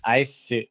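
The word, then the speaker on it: アイス: Iceu is how you say ice when you're talking about like ice cream.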